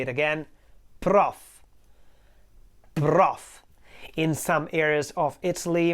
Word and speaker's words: prof: Let me say it again, prof. In some areas of Italy, mainly in the center, this word prof is pronounced like profe or something like that, with a kind of a schwa at the end.